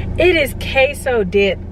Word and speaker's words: queso: like it's understandable though because like look how it's spelled but at the same time girl it's queso it is queso dip like let me see if I can